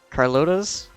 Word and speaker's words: Carlotta: sister carlotta's old carlotta's i pronounce that spanish i think the oldest